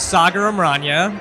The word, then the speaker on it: Sager: Uh my name is Sager. It rhymes with soccer with a G.